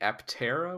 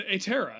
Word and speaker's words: Aptera: It's the Atera. It's the P is silent. It's pterodactyl. I don't think they say it like that. It's the P is silent. It means wing.